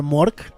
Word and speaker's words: Gmork: Yo creo que esa junto con Gmork, creo que se pronuncia Mork, la G es muda, vendrían siendo los personajes más siniestros de todo fantasía.